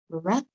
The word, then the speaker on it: brother: Now, brother and mother have got O, which makes the A sound. Brother and ma. Yeah, we're using O. Brother, mother. So let's look at the spelling. We pronounce it bra. Oops, no equals, we don't need equals. Bra. Oops, all gone, sorry. Bra, with the O as up.